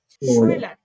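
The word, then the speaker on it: Schüler: দেখেন এস সে হা যখন একসাথে থাকবে তখন তার উচ্চারণ হবে তালবীয় স। শুইলার, ওকে, শুইলার মানে হচ্ছে ছাত্র।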